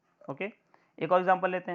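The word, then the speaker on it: ø: कैसे रिप्रेजेंट करते हैं हम लोग, इस फाई जैसे वर्ड से डिफाइन करते हैं, वैसे इसको डेनिस लेटर बोलते हैं, इसको प्रोनाउंस करते हैं ओ, ठीक है।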